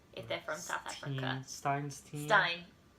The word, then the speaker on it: Steen: Stein. Stein. Spelled like Steen, but I think it's Stein.